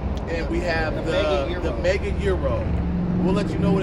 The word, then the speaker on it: Gyro: But I've always been taught that it's pronounced Euro.